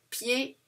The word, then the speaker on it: pied: Alors, pied, I, I, E, D, P, E. Alors, a D sounds like D. A. OK? Alors, pied. Not, we don't pronounce the D. Pied. Alors, this is how it's written.